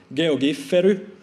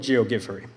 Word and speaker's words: Geogiffery: people quite a lot how to pronounce GOG furry that's how I promise it a finger would pronounce it Jo get ferry also heard a version G of G furry but I'll go with geogi furry the theory behind animated